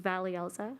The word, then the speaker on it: Valielza: turn it over to Valielza. Thank you so much, Joshua. And just a quick correction for Regent Robeson, my name is pronounced Valielza, or you can just call me Valley for short.